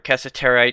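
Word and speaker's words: cassiterite: There's another type of ore that will create tin called casseterite. Or casseterite, however you want to pronounce it.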